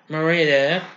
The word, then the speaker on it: Merida: Merida, that's how you say it.